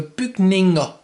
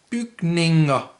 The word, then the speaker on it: bygninger: It's ER, which in Danish is pronounced, in this case, A. So bygninger, bygninger.